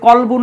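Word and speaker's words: قلب: ব্যবহার করা হয়েছে কিন্তু কেউ যদি কলবুন না বলে কালবুন বলে তাহলে কিন্তু অর্থ চেঞ্জ হয়ে যাবে কলবুন মানে আত্মা আর কালবুন মানে কুকুর অর্থাৎ সিমিলার প্রোনাউন্সিয়েশন যেগুলা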